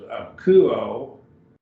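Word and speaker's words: ἀκούω: that omega this is a kuo so it's three syllables emphasis only diphthong omicron epsilon is a diphthong so it's treated like one syllable it just gets one syllable it's got one a single vowel sound ooh a kuo we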